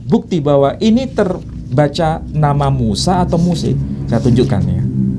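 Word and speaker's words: موسى: Inna hadza lafis suhufil ule suhufi Ibrahim wa Muse. Pakai mana namanya Muse? Ya kan? Jelas kan? Muse. Bukan Musa, Muse. Dibaca Musa boleh, dibaca Muse boleh. Kalau dikatakan Musa versi Quran dengan Moshe versi Alkitab itu beda.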